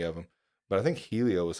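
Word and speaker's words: Hélio: So I think the Brazilians pronounce their R's as H's. Yeah, so I think it's Helio or something. Helio.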